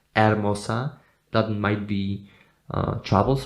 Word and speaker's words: hermosa: of this word because you don't pronounce the letter H in Sp Spanish you never do that Arosa that might be uh